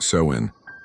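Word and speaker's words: Samhain: Halloween came from an ancient Celtic festival called Samhine, pronounced sew in.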